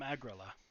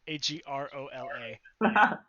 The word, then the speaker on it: Agrola: No, I am from Agrila. That's the capital of the Grasslands Duchy in Erevar. Is that close to Agrobar? It's with an O, Agrola. But phonetically, yes, kinda. Culturally, not at all.